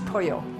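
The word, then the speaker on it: pollo: is polio when you say it in Spanish poyo it's spelled P o ll why would you want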